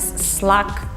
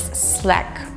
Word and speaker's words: Slack: sure you have but a lot of people pronounce it is slack actually if you check out the videos that the company produced telling about how to use the program they pronounce it as slack so please stick to the rule and pronounce